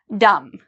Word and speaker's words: dumb: other words dum okay do you hear a b sound in there Dum no so again you'll notice there's an m and a b we see the m so we know no pronunciation of the B sound for those of you